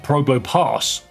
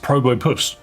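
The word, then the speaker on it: Probopass: I actually realised it's not pronounced Probo Pass. It's pronounced Probopus. Because it's the word compass.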